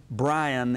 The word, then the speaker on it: Bryant: bryant run the place brian is actually the proper uh pronunciation for that but there was benny's